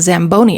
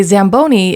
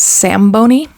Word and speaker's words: Zamboni: Anyway, I bring this up uh because Lua keeps mispronouncing it as Sam Bony and also has no idea what it is.